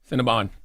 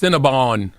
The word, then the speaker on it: Cinnabon: It's Cinnabon. But that's why they that's why they spell it like that though. What? Cinnabon. Yeah. They want you to say bond. Cinnabon.